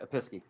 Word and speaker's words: Episkey: please and chandra she usually does those but episkey that's correct smith i'll say it right episky correct all right so six six they both